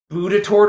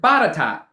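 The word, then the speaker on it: Botetourt: there's a county that looks like it would be Boudatort or something like that. It's a French name. I can't say the proper French one either, but they pronounce it Batatat, right?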